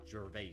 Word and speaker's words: Gervais: It's Gervais.